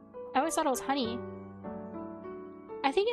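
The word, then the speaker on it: Hunie: is honeypop I think honeypop is pronounced honey the h u n i e I think it's pronounced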